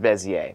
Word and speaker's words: Bezier: It's spelt Bezier, but it's pronounced Bezier.